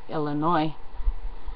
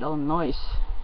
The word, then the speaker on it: Illinois: So anyway, just like people in Wisconsin generally say Illinois, where people that live there call it Illinois, or I'm not pronouncing it correctly, I'm sure it's Illinois, and they usually put an S on the end.